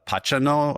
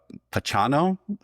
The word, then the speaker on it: Pachano: I think his name was Alberto uh Pacano uh Pachano something like that.